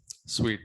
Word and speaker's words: suite: people always say so most of the foreign people will call it as a sweet not as a suit just try to pronounce